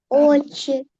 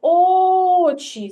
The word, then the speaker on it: очі: А тепер погукай слово очі щоб з'ясувати який склад наголошений на пер очі так правильно на перший склад очі звук о сюди ми покладемо рисочку наголос перший склад наголошений так Молодець кірочка правильно